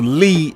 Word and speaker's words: Li: and also Bruce Lai, L-I, or Lee in the Chinese way of pronouncing the name. L-I in Chinese is still considered Lee.